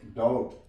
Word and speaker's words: doubt: For example, DOUBT, इसे हम पढ़ेंगे डाउट, बी साइलेंट है यहां पे।